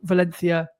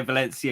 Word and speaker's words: Valencia: You can tell you've been researching about Valencia because My soft C. You didn't say Valencia. You said Valencia.